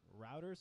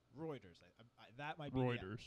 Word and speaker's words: Reuters: basic thing sometimes so this news channel is Reuters Reuters okay so I'll get we've got our first thing to search Reuters like like steroids like re UT re